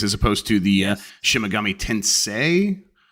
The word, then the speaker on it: Tensei: And Goldie says Persona series as opposed to the Shimigami Tensei. Yes, Tensei, yes. Rhymes with Sensei.